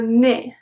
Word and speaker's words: nez: Well, we don't pronounce it. The last one of the consonant is the Z. We have le nez, chez, chez.